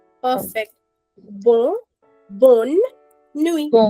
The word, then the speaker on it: nuit: But 95% of the times in French in a word, we do not pronounce the last letter of it. Okay? That is why we call it bonne nuit.